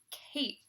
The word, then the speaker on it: cape: go on this side because we hear that he found that a is saying its name so we know that's a silent e will go at the end and it'll say Cape good job